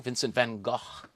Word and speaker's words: Vincent van Gogh: this is a painting by Vincent van Gogh Vincent van Gogh as I think it's properly pronounced and I think 1888 this paintings from